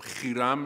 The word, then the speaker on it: Hiram: Okay, you're talking about Hiram, or Hiram as I would pronounce it, one of the kings of Lebanon.